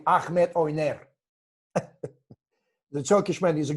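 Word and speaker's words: Ahmet Öner: Look, Avni Yildirim is managed by Ahmed One, you call it, or if to pronounce properly, Ahmed Oyner.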